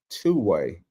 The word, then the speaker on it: 2WAI: Uh it's called Two-way, and it's pronounced I mean, it's spelled uh with the number two and but W AI.